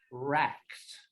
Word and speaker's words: wracked: W, it's got a silent W in front of it. WRAKED. Racked with problems. Not wreck. No, it's very close to wreck. Yeah, just change it to an A.